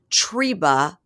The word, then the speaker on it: Trebra: But they go in and the mom is Dee Dee and the grandma's name Trebreh, but they say Treba, to which I wrote Treba like Reba, but it's spelled Trebra.